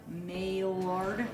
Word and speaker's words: Maillard: It's spelled like maillard, but it's a French dude, so what can you do?